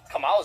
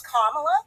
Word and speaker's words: Kamala: Her name is Kamala, actually. Kamala, right? No, it's Kamala, like my sign.